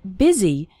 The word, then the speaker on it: busy: in fast spoken english the word busy is pronounced with an e sound busy and the word and